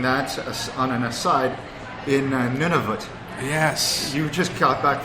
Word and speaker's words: Nunavut: on the thermometer, and you actually pronounced it right, Nunavut. Yeah. I was pronouncing it none of it, which is fun to say, none of it, but no, it's none of it, and it's a new territory.